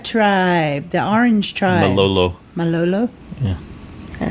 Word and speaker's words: Malolo: Malola tribe, the Orange tribe. Malolo. Yeah. Is that how it's pronounced?